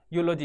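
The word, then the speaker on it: eulogy: तो ये कहता है यूलॉजी, यूलॉजी बार बार रिपीट करोगे तो आप, अब यूलॉजी, यूलॉजी में ई साइलेंट हो गया, तो यूलॉजी मतलब प्रशंसा।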